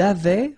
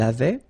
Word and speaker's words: avait: Il avait, final T not pronounced, elle avait, nous avions, little liaison,